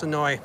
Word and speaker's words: Senoia: And again, it is spelled Senoia, but they know you're not from here if you come down and say it like that. So it's Senoia.